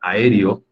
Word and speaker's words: aéreo: trabajamos la clase pasada aéreo ya sabemos que son finalmente cuatro sílabas y si la sílaba tónica es la antepenúltima en este caso la e entonces es una palabra esdrújula por m va por